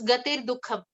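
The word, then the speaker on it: गतिर्दुःखम्: there is a slight there is an r sound that has to be inserted in between to be able to combine those two words according to the rules of Sanskrit grammar. So it becomes gatir dukham.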